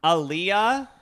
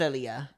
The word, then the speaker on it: Aaliyah: Aaliyah, that's how you say it, right? She died in like the early 2000s. Oh yeah. I think it's Aaliyah.